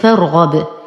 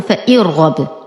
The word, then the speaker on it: فارغب: وكمثال عليه في كلمة فارغب لا أقول فإرغب، وإنما أنتقل من فتحة الفاء إلى إسكان الراء دون أي ذكر للهمزة، فنقول فا فتحة را سكون فار.